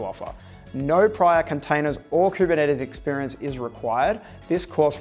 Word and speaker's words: Kubernetes: it has to offer no prior containers or kubernetes experience is required this course really will take